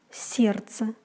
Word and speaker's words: сердце: РДЦ произносится как РЦ, например, сердце.